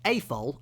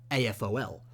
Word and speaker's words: AFOL: to the next term typically all Lego acronyms are said as words and not as the individual letters so for example it's pronounced a foal not a fol but again say it